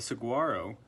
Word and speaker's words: saguaro: were a 10 year old saguaro cactus the Saguaro pronounced Saguaro only grows in the Sonoran Desert of